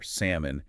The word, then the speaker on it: salmon: Mastering the silent L in words like almond or salmon is a huge phonetic milestone.